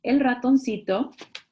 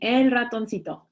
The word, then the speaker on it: ratoncito: Unknown good spirits gave El Ratoncito, I'm going to stop here because I want you to write down the word.